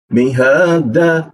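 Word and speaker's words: مِهَادًا: Mihada dan e dibaca dua harakat tidak boleh lebih.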